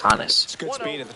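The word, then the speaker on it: Honus: Honest Wagner. Is it Honest or Hannis? It was Hanis.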